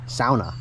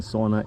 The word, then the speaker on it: sauna: to get comments of saying it's sauna, not sauna. No, it is sauna. That's the proper way to say it. Sauna is a Finnish word, and that's the way you say it. The English pronunciation sauna is wrong, I'm afraid.